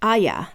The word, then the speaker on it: Arya: Evans pointed out is that in British English, Arya has 2 syllables since the R is silent and pronounced Aya.